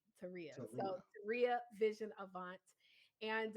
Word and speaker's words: Taurea: It's always like Maria Teria.